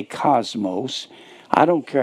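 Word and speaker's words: κόσμος: The O, the Omicron, is pronounced ah. The omega is always pronounced O.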